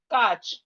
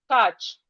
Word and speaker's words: catch: TCH says ch, just like CH, because the T is silent.